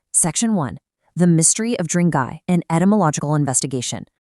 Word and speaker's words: Drang: So, when we talk about the Drangay surname today, we're actually investigating a very specific indigenous Kram. Now, what's really interesting about this is the actual root word itself, Drang, or sometimes pronounced Dranga. This is an ancient Kashmiri